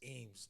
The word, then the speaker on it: Eames: Only nigga pronounces my name wrong, but whatever. Young niggas. It's Eames, nigga. That's what I said, Eames. He just slurs it all together.